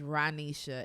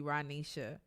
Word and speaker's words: Rohnesha: not gonna make it anybody that has grown up with me will say my name is ranisha and the reason is because my mother meant for my name to be ranisha okay um and so